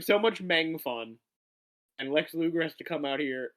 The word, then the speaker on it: Lex Luger: Would you please pronounce it properly, Frankie? I'm not calling him Lex Luthther. It is Lex Luger.